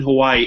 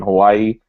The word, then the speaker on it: Hawaii: Cal, number 4, or number 13, Hawaii. And by the way, nobody pronounces Hawaii with apostrophe I. That's bullshit. Stop doing that.